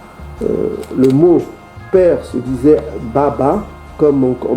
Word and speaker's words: baba: L'ancien hébreu, le mot père se disait Baba, comme on prononce encore en Swahili.